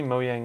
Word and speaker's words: Mojang: yang mo Jiang right because I know people pronounce it mo yang as well but Penley mo yang is the actual way to say it it's